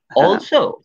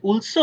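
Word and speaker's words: also: এখানে যে র অলরাইট তোমার যেটা বলছিলাম উচ্চারণ করতে চাচ্ছে যে এটা কি অলসো মানে উলসো নাকি অলসো, না ও ও ও প্রথমটাই ঠিক আছে, ও অলসো, হ্যাঁ হ্যাঁ অলসো ঠিক আছে।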